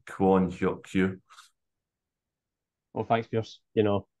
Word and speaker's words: Kwon Hyeok-kyu: Anyway, so slightly different because it's they pronounce the last name first, so it'd be Yang Hyun-Jun and Kwon Hyeok-Kyu.